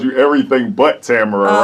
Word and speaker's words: Tamara: The correct pronunciation is Tamara. Rhymes with camera.